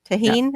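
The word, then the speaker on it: Tajín: know that spice uh toen I think is how you say it it's got like a little Citrus with spice to it yeah Tajin or t tajun it looks like tahen okay thank you you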